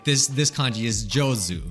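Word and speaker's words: 上手: But when it's put next to another kanji, it is now pronounced jo. Like this kanji is jozu.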